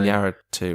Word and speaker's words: Iñárritu: I can't pronounce his name. Iñárritu, right?